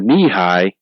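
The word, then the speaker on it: Nehi: point of of the knee-high and it's it's spelled n-e-h-i but it's pronounced knee high because the bottles were taller than coke bottles they were knee-high ah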